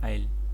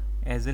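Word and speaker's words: aisle: इस वाले पैसेज को कहते हैं आईल। ठीक है? इसकी प्रोनंसिएशन देख लेना। एजल नहीं है ये। आईल बोलते हैं इसको। एस जो है वो साइलेंट होता है।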